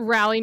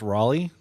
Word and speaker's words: Raleigh: hotline League live at Rally North Carolina this year I think it's pronounced Raleigh in the Carolinas are